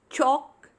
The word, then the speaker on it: chalk: Chalk, talk and walk. Here in all the three words, the letter L is silent.